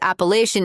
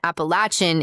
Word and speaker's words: Appalachian: Also, by the way, a quick internet search says Appalachian is the northern pronunciation. Appalachin is the southern pronunciation. And I was combining the two by saying Appalachian with a sha instead of a ch.